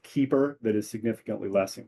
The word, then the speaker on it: KEEPR: I have recently been apprised of a competing program called Keeper that is significantly less in cost. It's spelled KEEPR.